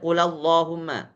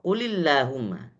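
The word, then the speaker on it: قُلِ اللَّهُمَّ: Enggak boleh qulumma, qulullahumma enggak boleh. Tetap kasrah. Kenapa? Karena bagi orang Arab harakat yang paling ringan adalah kasrah. Bukan fathah, bukan dzummah. Jadi mereka membacanya dengan kasrah. Qulillahumma.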